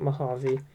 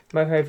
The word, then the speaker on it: Mojave: This is Mojave, I hope that's pronounced right, not Mojave. Mojave Triangles.